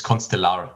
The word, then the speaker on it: ConstellR: not sure whether it's is it constellar or constella or how do you pronounce it whatever you like it to be but it's constellar that's at least what we say okay now we know